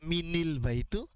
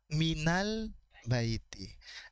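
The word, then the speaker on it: مِنَ الْبَيْتِ: Apakah kita membacanya minil-baitu? Bagaimana cara kita membacanya? minal-baiti.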